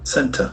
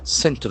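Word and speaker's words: centre: We start with a standard sentence where the dual is center. C E N T R E. Center. Center. As we know the letter C can have either hard C sound or a soft S sound.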